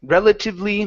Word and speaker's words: relatively: Relatively minor things. Relatively minor things. Okay, good job with minor. Let's go back to relatively. Make sure to pronounce an Uh, E sound at the very end instead of relatively.